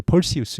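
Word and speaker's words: Perseus: 페르세우스는 영어로 이제 펄시우스 이렇게 발음을 하죠.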